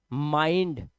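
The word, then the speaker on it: mind: जब आई के बाद एनडी या एलडी आए तो आई को आई से ही पढ़ेंगे। जैसे देखो ब्लाइंड, माइंड।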